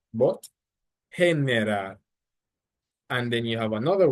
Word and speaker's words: generar: So for example, the word generar, which is to generate, generar. No, it's not generar, but generar.